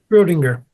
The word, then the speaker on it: Schrödinger: Schrödinger.